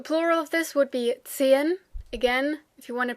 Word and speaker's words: Zehen: E, but normally when you speak fast, you will say Zehen. So it kind of sounds like a little stretched version of the number 10, 10.